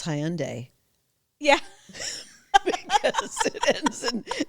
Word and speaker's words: Hyundai: They now know how to pronounce Hyundai.